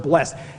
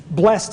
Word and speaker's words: blessed: to use the word blessed i originally came from pennsylvania and blessed is one syllable i moved to texas in this two syllables blessed i moved the tennessee it's three syllables it's blessed so every time i